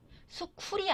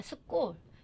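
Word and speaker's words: school: 수쿨이 아니라 수골. 이렇게 끄로 발음해야 맞아요.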